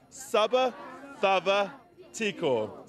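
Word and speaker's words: Sa vacava tiko: The one that I've learnt is Saba Thava Tiko. Say it again, everybody. Saba Thava Tiko. And now let's say it as one. Saba Thava Tiko.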